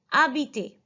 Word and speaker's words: habiter: Habiter. The meaning of habiter is to live. H is silent here. We're calling it as habiter.